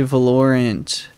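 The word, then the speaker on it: Valorant: are probably dude yeah we could just play velorent that's how you pronounce it yep guys what game should we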